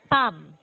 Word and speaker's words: palm: No, it's silent L, so you're going to pronounce it as palm.